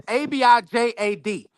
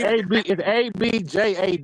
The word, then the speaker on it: abjad: I might not even be pronouncing this, but for anybody that want to look it up, it's Abijad, right? No, And brother, so it's ABJAD.